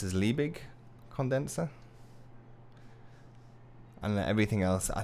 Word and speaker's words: Liebig: put on around r-o-u-n-d bottom um this is pronounced as liebig condenser and everything else i think you understand